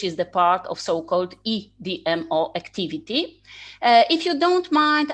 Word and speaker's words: EDMO: the part of so-called EDMO activity. If you don't mind, I will use Polish pronunciation of the abbreviation, so CEDMO and EDMO.